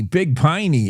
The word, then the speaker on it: Big Piney: is if sublets tiny big piny is rhymes with tiny tiny big piny it's barely a I